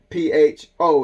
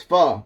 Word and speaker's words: pho: P-H-O is pho. It's pronounced pho. Okay, it's almost like a F-H-O, pho, or F-H-A, pho.